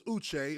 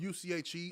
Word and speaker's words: Uche: Like, my name is Uche. It's spelled U-C-H-E. A lot of people say Uche. I wouldn't just let them continue calling me Uche. Like, you're going to say Uche.